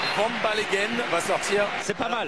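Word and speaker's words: Vanbaleghem: Non, c'est Van Ballegen qui va rentrer. Il est du Nord. On peut le prononcer un petit peu à la belge.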